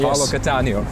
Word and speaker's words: Paolo Cattaneo: Paolo Cattaneo.